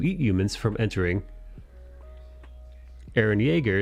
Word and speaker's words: Jaeger: Aaron Yeager, is that how you say his name? Yeager? Yeah, like Jaeger bomb.